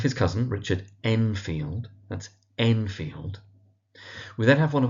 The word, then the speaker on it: Enfield: So that's Utterson, emphasis on the ut, the first syllable, Utterson. We have his cousin, Richard Enfield. That's Enfield.